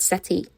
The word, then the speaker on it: settee: When I checked the pronunciation, it said settee. Like a comfortable foamy chair, right?